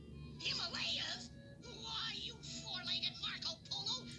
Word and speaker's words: Himalaya: We're somewhere in the Himalayas mountains. That's pronounced Himalaya. Himalayas?